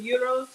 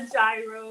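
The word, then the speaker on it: gyros: I'm just making some uros on peer bread and that is the pronunciation AO it's not a gyro it's not a Giro the g is silent it's a soft G and in um Greece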